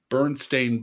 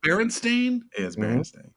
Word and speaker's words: Berenstain: pronounce this right because everybody mispronounces bernstein bears oh my gosh not the bernstein bears but the bird stained bears it's bearing stain was it berenstain i hate everybody you're half right andy that's no deva um